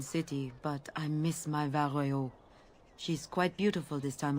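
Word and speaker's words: Val Royeaux: This Denerim is a fine city, but I miss my Varroyo. She's quite beautiful this time of year. Vario, even. That's how it's pronounced.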